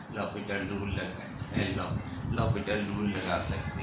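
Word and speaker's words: L'Hôpital: तो ये एल हॉपिटल rule, लेकिन कहलाता है, ये प्रोनाउंस ये होता है लॉपिटल रूल।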